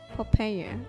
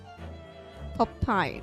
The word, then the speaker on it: Popeye: I have to pronounce again. Papaya. Is that it? Papaya? Popeye.